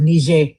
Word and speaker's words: Niger: That's why they call it Niger. That's why they pronounce it like that, because that's the French pronunciation of it, Niger.